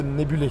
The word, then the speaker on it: Nebulae: Ils sont là pour nous parler de Nebulé. Je prononce bien? C'est ça, parfait. Alors, qu'est-ce que c'est Nebulé?